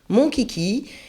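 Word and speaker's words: Monchhichi: maintenant mon kiki ça ça s'écrit mon chichi mais ça se prend ennonce mon kiki donc voilà il y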